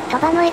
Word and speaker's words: 騰波ノ江: ありますとーうちなみに読み方ですが騰波ノ江と読みますいわれてみれ